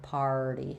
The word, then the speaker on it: party: So par, party. Make sure your tongue is ready before you even say your P sound. And then we flap that T. So first syllable stress, party.